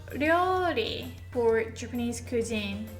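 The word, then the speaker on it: 料理: トラン, although 料理 is really hard to pronounce. It's like 料. So it's not exactly L or D or R in English, but 料. The tongue hits here. 料.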